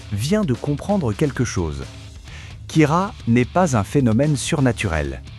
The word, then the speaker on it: Kira: Kira, dérivé du mot anglais « killer » prononcé à la japonaise.